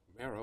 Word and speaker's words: Mara: And we've got Mara with us. Did I pronounce that right? You did. Don't call her Myra.